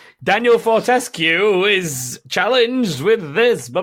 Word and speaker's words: Fortesque: And so what happened there is I learned that for 20 years I've been saying what we've all been saying, Daniel Fortesque wrong. What? Yeah. Because the woman, Fortesque, please. The woman on one of the trailers was like, Daniel Fortesque, or Fortescue, that was it.